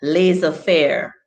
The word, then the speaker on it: laissez-faire: And laissez-faire. Laissez-faire. And rendezvous. Steny said rendezvous. We cannot look the other way. Z. All right, so we don't pronounce the Z in rendezvous and in laissez-faire, and in check the Z sound like CH.